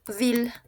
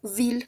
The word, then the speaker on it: ville: A excepción de una que va a ser ciudad que es vil. A pesar de que se que se escriba con i L e se pronuncia como ville, con una l.